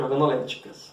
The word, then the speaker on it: organolépticas: Isso são propriedades organolépticas, ou simplesmente organolépticas. O P é mudo.